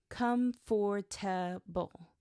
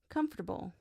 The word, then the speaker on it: comfortable: So when he said comfortable, he read it every letter. Comfort toable. But in natural English, natives say it quickly, comfortable.